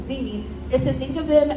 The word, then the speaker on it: zines: good Community connectors so when people typically see this word they want to pronounce it as signs but I think a very fun way to remember their pronunciation Zen is to think of